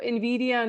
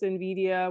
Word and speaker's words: Nvidia: So Nvidia name origin, because that is the company that actually invented it.